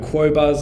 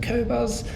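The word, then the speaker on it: Qobuz: pronunciation forgive me uh I've heard quo Buzz I've heard cobuzz I say cobuzz um right now they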